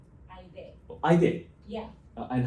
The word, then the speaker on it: Aide: Aide. It pronounced like I and they. Aide. Oh, Aide.